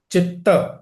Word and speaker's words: chitta: is the full word is not chit actually it's chitta I may have mispronounced my apologies for that.